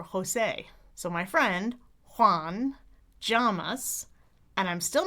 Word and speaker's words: Llamas: So, I used to picture him wearing pajamas to remember because I kept picturing llamas because for me it's more like a a Y sound with my tongue tip down.